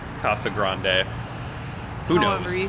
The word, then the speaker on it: Casa Grande: If you follow the Spanish diction, it's Casa Grande.